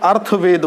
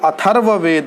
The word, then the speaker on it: अथर्ववेद: ऋग्वेद यजुर्वेद सामवेद अथर्ववेद इसको ज्यादातर बच्चे अर्थवेद बोलते हैं आप अर्थवेद ना बोला करें वह अथर्ववेद है जो रहा है वह पड़ेगा इसलिए अथर्व उच्चारण होगा तो रिंग यजु साम